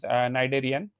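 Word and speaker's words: Cnidarian: तो यह हम पढ़ेंगे पढ़ रहे हैं आज फाइलम नाइडेरियन इसमें जो सी है वो साइलेंट है एंड यह एनिमल किंगडम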